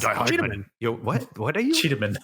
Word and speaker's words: Cheetahmen: It's like Cheetah the animal, but it's pronounced like Die Hardman. Yeah, exactly. It's Cheetahmen.